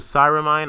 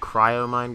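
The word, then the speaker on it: Cryomine: it wrong last video it's not called cyramine I looked it wrong it's called cryo mind gov so yeah Posey's about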